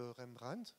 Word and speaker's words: Rembrandt: est un tableau de rembrandt je le prononce à la belge a été complètement reconstruit